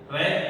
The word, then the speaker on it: read: Tadi ada go, verb 2-nya jadi went, eat jadi ate, read jadi read ya, tulisannya sama tapi bacanya beda.